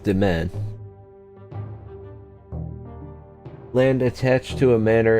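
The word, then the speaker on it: demesne: Yes, pronounced Demen.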